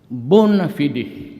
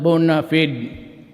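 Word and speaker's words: bona fide: The bonafidi media. Bonafidi media. Sometimes they pronounce it bonafided.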